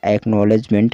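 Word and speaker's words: acknowledgement: देखिए किस तरह से पढ़ा जाता है इसको, AC से क्या होगा एक, और K यहाँ पर साइलेंट है, ठीक है। NO से नौ हो गया, और W यहाँ पर साइलेंट है। LEDG से लेज हो गया। देखिए आप कहेंगे कि D कहाँ गया, D नहीं पढ़ रहे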